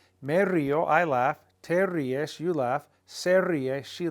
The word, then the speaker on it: ríes: Te ríes. There's an accent on the I to break up the diphthong.